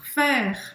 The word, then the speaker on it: faire: Faire. Então, de novo, não pronuncia o E no final. Aí tem som de E. Faire.